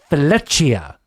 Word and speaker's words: Fileccia: his name up because technically in Italian it's Fileccia.